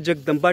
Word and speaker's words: जगदंबी: ये जो टेंपल आप मेरे पीछे देख रहे हैं ये जो हमने जगदंबा टेंपल एक्चुअली उसको जगदंबा नहीं जगदंबी टेंपल प्रोनाउंस करते हैं।